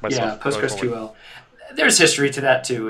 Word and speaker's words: PostgreSQL: PostgreSQL.